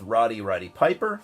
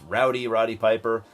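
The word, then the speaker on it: Rowdy Roddy Piper: uh a film with Rody Rody Piper or I always miss miss say his name it's Rowdy Rody Piper when I was a kid I would always say Rody Rody Piper so I still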